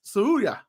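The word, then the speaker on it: Tsuruya: When it comes to last names that go TS, the T is silent. It's Suruya.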